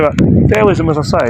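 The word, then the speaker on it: Taoism: it as a religion it's been said to be dowoism I've heard or dowoism different ways of pronouncing Mandarin Dowism. So Dism I should say Dowism.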